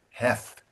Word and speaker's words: Heth: And and like the tongue between the teeth, th, heth. Letting the air out.